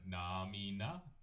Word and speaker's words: namina: together would be there's three syllables in it namina and it's the number three namina so starting with one